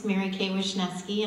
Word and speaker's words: Marykay Wishneski: It's Marykay Wishneski, and I'm so glad to be here.